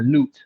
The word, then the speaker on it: Nut: Her name is Nut. That's the name or Newt, however you want to pronounce it, but it's spelled like Nut.